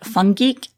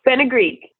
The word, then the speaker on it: fenugreek: A lot of the ingredients sound very exotic, like fungeek. Is that how you say that? Did I pronounce that right? Oh, fenugreek.